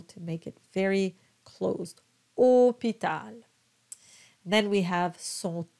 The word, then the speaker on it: hôpital: Hôpital, it's very important to have a nice round closed O because you have the little accent on top of the O.